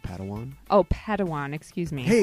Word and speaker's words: padawan: a pad one to this bold jedi it's pronounced padawan oh padawan excuse me hey it's getting late